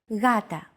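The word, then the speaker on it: γάτα: word Gata meaning cat this is usually romanized with an initial G letter but it is no pronounce Gata the first consonant is softer Gata watching contemporary videos such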